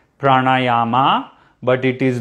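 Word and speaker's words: प्राणायाम: have some important word see there are four a's here okay so pra na ya ma not pranayama okay not pranayama again this is something i've heard a lot of non-indians say pranayama but it is not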